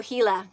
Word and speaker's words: Gila: Then I pronounced it right the first time. I'm from Southern California, so I know kind of that how you pronounce the J's and the G's at times because we are so close to Mexico.